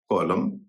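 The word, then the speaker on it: column: उसी तरह से किसी शब्द के अंत में अगर एम एन हो उसमें भी एन का उच्चारण नहीं होता है।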